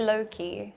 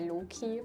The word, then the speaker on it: Loki: In English we say low key. In German we would say low key but I'm really not sure. I've never pronounced it in my life. In Norwegian we say low key. In Swedish we say low key. In the Netherlands we say low key. Low key.